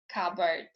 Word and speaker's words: cupboard: psychic pseudo tamigan receipt it is also not pronounced in other clusters occurring in raspberry cupboard now let's get to